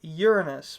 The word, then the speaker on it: Uranus: And so that's why when you pronounce it Uranus, because it's named after the Greek god Uranus, which has basically the same name sound to it.